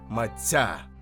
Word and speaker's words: matcha: In this video, we’ll say “matcha,” but keep in mind that according to Japanese language norms, the more correct pronunciation is “mat’ya.”